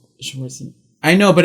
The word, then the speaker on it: Schwarzenegger: Okay, Schwarzenegger. Focus on the A, Schwarzenegger. Like Jaeger, but Jaeger.